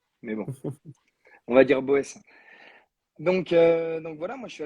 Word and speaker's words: Boès: ouais, alors, Boès, c'est la prononciation hors Alsace, parce qu'à la base, je viens d'Alsace. Et en Ah, Alsace, on a plus tendance à dire Beuss avec des grandes racines germaniques.